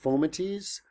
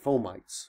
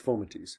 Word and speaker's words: fomites: way um Anyway by the way it is pronounced foamatease I had a friend who worked in a hospital and she said they pronounced it fomites it's like she said everyone just calls it fomites but it's okay don't be that person uh